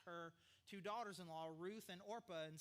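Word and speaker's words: Orpah: a break right here you think I'm saying it wrong but it is orpa it's not Oprah when you read it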